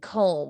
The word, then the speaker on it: comb: of silent words like the silent b and comb or the silent g